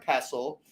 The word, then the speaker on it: pestle: And then they were like, no, it's actually mortar and pestle. It's spelt phonetically with the T, right? So that it looks like it says pestle, but it's actually pestle, mortar and pestle.